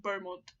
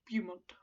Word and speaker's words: Beaumont: keep saying it wrong apparently it's pronounced Beaumont not Viewmont anyway Beaumont that Beaumont